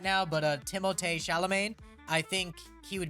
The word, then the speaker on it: Timothée: Isn't it Timothy? No. Everyone thinks, by the way, everyone thinks it's Timothy because no one wants to actually pronounce his name, but his real name is Timothée. It is Timothée Chalamet.